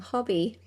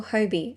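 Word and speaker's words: Hobbii: So this is just one I got from Hobby, or Hobie. I've heard it pronounced both ways.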